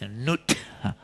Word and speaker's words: Nut: See, it's pronounced as Nut.